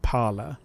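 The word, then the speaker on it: Parler: r so for me I pronounce it par like the French for speak but I've seen other people pronounce it like paror um but I choose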